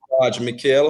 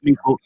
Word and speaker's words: Meikle: to know who is mikhail hope i'm pronouncing your surname right you know suggestions it's mikkel but i'll let you get